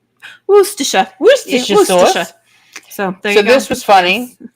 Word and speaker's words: Worcestershire: is the head chef is English, and it's Worcestershire. Worcestershire.